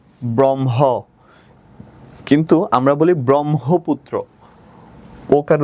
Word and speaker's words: ব্রহ্মপুত্র: ওকে, এটা যদি থাকে, হয়ম থাকলে কি হবে, ম হসন্ত হ, ব্রহ্ম, কিন্তু আমরা বলি ব্রহ্মপুত্র, ওকার উচ্চারণ করি ওই জন্য ওকার দিলাম, পুত্র পরশুকার দিলাম।